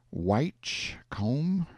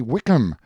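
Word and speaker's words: Whitcomb: and most respected citizens is it which comb or white comb no it it turns out to be Wickham I couldn't find the actual man's name pronounced but took the chance that being British he was probably in some way connected with High Wycombe England Wickham Wickham then there's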